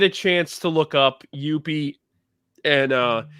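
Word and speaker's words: Youppi!: chance to look up Youppi, and I put it with an exclamation point on the board because that's how it's pronounced. You have to put an exclamation point at the end.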